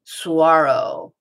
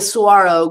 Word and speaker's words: Saguaro: Saguaro. Doesn't look like it's spelled either, does it?